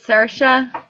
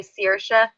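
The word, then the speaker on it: Saoirse: your um daughter's name we pronounce it Sasha but in some parts of Ireland they say sersha so not to confuse everyone but we say like Mark kind of says like Sasha when he says it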